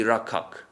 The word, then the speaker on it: Rakshak: So that is why you'll hear people saying Bhakti Rakhak instead of Bhakti Rakshak. That's the Bengali pronunciation.